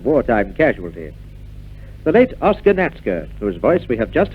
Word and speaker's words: Natzke: Now, in the past, although we've pronounced your name as Natska, it's always been spelled Natzke.